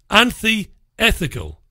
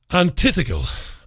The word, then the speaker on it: antithetical: attention that it is anti-ethical to British democracy." In fact, it's antithetical. Antithetical. That's right. Say it right, Rich.